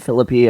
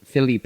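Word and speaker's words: Phillippe: how do you say it I I've heard Philippi I've heard Philip I've heard philippy but I always say Philip Filipe I think Filipe Ryan Felipe that's what I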